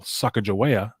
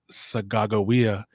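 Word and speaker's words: Sacagawea: picked up the person that you would call sucka joaya but her name is actually pronounced sagagowia and that that that name is actually a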